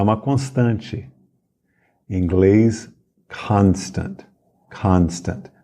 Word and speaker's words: constant: uma constante inglês Constant Constant não é constante é Constant a força tônica é na primeira sílaba Constant e o o se pronuncia como um a bem aberto Constant Constant agora vamos